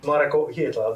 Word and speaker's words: Hietala: Marco Hietala, that's me. I know I pronounce it right this time.